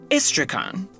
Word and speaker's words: Istrakan: life, he pronounced it ISTRAKAN, which honestly might actually be closer to how it, quote-unquote, should be pronounced in Japanese. You see, Japanese doesn't have stressed syllables in the same way that English does.